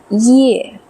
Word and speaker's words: 叶: hanzi~ so first pronunciation yè 叶 it's a fourth tone and it's only vowel sound there's no consonant that's simply a vowel